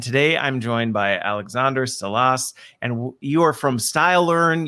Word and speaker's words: Salas: I think I pronounced your name correctly, didn't I? No. No? Okay. Correct me. Salas. Salas.